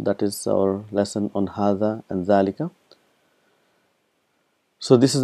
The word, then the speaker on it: هذا: So we've learned that hadha and zalika is one of those words where it is pronounced but it is not written.